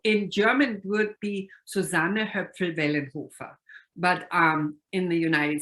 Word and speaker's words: Susanne Hoepfl-Wellenhofer: about it so in german it would be susanna her friend hoofer but um in the united states and susannah